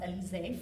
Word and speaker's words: Elizee: e l i z double e and it's pronounced elizae french but i also did a play on